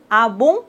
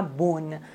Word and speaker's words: Ah bon: C'est vrai ?» « Ah bon ?» on ne doit pas prononcer le N complètement, on ne dit pas « bonne ».